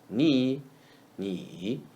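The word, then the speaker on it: 你: Ni is the word ni read in the third tone. Ni, ni.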